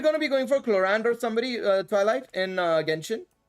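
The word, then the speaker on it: Clorinde: Chlorand, that's how you pronounce it. The French version of pronouncing it, Chlorand. I mean, that's how they pronounce it on the English stream, so I'm just sticking with it because that's the only one I can use. I'm not gonna say Chlorind, because that is not French.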